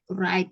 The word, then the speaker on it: write: Tulisannya kan right gitu ya. Tapi bacanya, W-nya itu silence. Jadi right. Cara bacanya gitu.